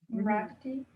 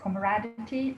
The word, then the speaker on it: camaraderie: Comradity. Say that again, please. I'm sorry, my pronunciation is not good. Like camaraderie, like how do you say, Yes.